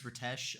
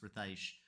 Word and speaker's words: Ritesh: I had been referring to them as Ritesh, which is how their name is spelled Ritesh, and I've been referring to them as Ritesh. However, Rithaish recently posted on Twitter that their name is actually pronounced Rithaish.